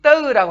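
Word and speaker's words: ទៅ: 이 떠라고 하는 말이 있죠. 떠 약간 잡아채듯 발음을 해야 합니다. 떠 이렇게 길게 하는 게 아니라 떠. 예, 싹 잡아채야 됩니다.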